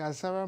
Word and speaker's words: Asaba: of the massacre, or how do you pronounce it, Asaba? Asaba is correct.